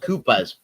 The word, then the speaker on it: Coopers: Sorry, it's pronounced Koopas.